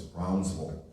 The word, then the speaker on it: Brownsville: She would tell me that I was always pronouncing it wrong. It's Brownsville.